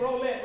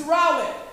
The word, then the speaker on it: Rowlett: uh the community of Rowlett y'all I said roulette right and I had to make sure that's the right pronunciation evidently it is not I got a little Southern Twain myself I'm from Florida so but it's Rowlett is that correct yes so when I got